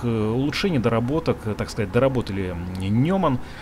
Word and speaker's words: Неман: Именно белорусские конструкторы взяли за основу этот автобус, получили лицензию и сделали несколько своих улучшений, доработок, так сказать, доработали Неман. Неман, правильно он произносится.